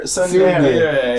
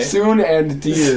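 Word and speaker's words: ツンデレ: Suendeer? Tsundere. Soon and dear.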